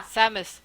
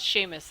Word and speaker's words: Samus: like she is yeah Samus it's not Sheamus it's Sabbath Jesus uh